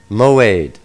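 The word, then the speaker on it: מועד: Let's take a look at the word Moed from Strong's number H4150, generally seen as feasts. Moed is spelled Mem, Wa, Ayin, Dalet. Mem, Wa, Mo. Ayin, Dalet, Aid.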